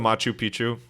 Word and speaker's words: Machu Picchu: But did you go to, and I pronounce this wrong all the time, did you go to Machu Picchu when you were on that trip? That was pronounced perfectly, I think.